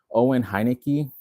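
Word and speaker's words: Owen Heinecke: Owen Hineki, that's how you say his name.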